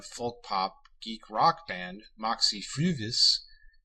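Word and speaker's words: Moxy Früvous: The name of the Toronto, Ontario area folk pop geek rock band Moxie Fruvis is pronounced with long U, so this is perhaps not gratuitous.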